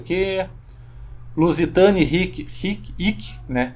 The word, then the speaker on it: hic: Lusitani, hic, né? O H não era pronunciado mais.